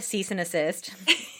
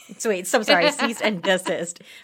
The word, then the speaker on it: cease and desist: Should we write a cease and assist? Cease and desist, right? That's how you say it, not cease and assist. Yeah.